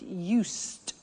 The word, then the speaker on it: used: I said used with a T sound.